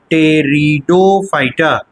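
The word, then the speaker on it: Pteridophyta: दूसरा कहलाता है ब्रायोफाइटा और तीसरा कहलाता है टेरिडोफाइटा जिसमें कि पी साइलेंट रहता है।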